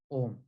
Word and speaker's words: Om: without needing your tongue so om is made up of three syllables these three syllables there's no need for your tongue all other sanskrit syllables